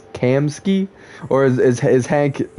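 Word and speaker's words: Kamski: I've been calling him Kamasaki this whole time. And it's Kamsky. Or is is Hank mispronouncing it? because it looks like it sounds like Kamsky honestly, but I assume Kamasaki,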